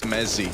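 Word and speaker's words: Mezii: It's pronounced Mezzi with a Z.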